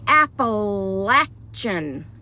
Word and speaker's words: Appalachian: And you have to say Appalachian, okay? Appalachian. Anyway, don't hit me.